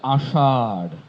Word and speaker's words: আষাঢ়: ব্যতিক্রম শুধু একটি, সেটি হচ্ছে আষাঢ়। এটির উচ্চারণ আ ষাঢ়, আ ষাঢ়।